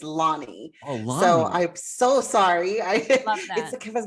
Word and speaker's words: Lani: make a correction my it's my pronunciation my name is Lonnie so I'm so sorry